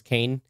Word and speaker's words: Kane: You didn't say his name right. Kane. No, you gotta say it like John Wick. Kane. Every time it was like Kane? John. Kane. It's like a question. Yeah.